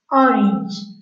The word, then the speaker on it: orange: I don't know why people pronounce this word in a French way. The pronunciation in English is orange, orange.